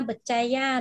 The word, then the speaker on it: Berjaya: Semoga berjaya đó không nào. Cái chữ dây này đấy các bạn, dây chúng ta đọc giống như chữ dây tiếng Anh.